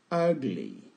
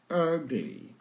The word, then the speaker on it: ugly: Sixième adjectif, ugly. Ugly. On écrit U, mais on prononce E.